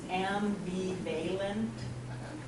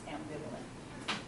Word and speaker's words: ambivalent: anyone heard it before did anyone read it and think it might be pronounced am be valent if you were going to sound it out it looks like it might be pronounced and right but the ambivalent it's pronounced ambivalent okay so here's the